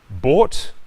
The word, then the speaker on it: bought: Bought, like in sought.